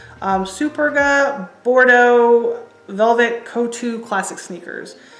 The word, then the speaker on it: Superga: I always thought it was Super Vega, and then I realized there's no V. Superga Bordeaux Velvet Couture Classic sneakers.